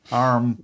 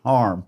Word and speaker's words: Hiram: The man, Hiram Williams. Hank Williams. Hiram. Hiram. Harm. It's Hiram, but his family pronounced it Harm.